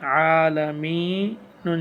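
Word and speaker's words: العالمين: লাম জবর লা আলা মিম ইয়া জিরের মি আলামি নুন জবর না আলামিনা যেটা বামবাশিয়া মদি হরফ এক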